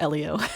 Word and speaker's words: Elio: His name is pronounced Elio. Elio keeps saying Ilio.